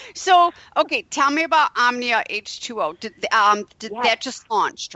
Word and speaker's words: Omnia: And then now you are the co-founder of Omnia. Did I pronounce that right?